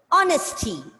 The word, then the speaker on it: honesty: Third word, honesty. Honesty. Take care of the silent letter.